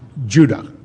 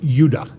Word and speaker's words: Judah: were called benjamin and judah more properly pronounced yuda because we didn't get the harder sound to the j until about 200 years ago so this is what